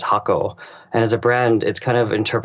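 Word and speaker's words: 箱: bxu and the character the Japanese character is actually pronounced hako and as a brand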